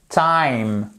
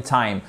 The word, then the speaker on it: time: Par exemple, like, time, fine. Ok? On dit pas fine, on dit pas time, on dit pas like. Donc like, fine, time.